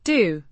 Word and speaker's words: doe: doe, Means do, pronounced do, with a long o, sound similar to the oo in moon.